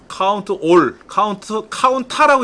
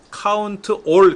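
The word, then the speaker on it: COUNTA: 그러면 는 카운트 A는 뭐냐? 카운트 A는 카운트 올의 줄임말이에요. 범위에서 빈칸을 제외한 모든 것의 개수를 구하는 거예요. 올. 카운타라고 읽지 않고 카운트 올 그래요.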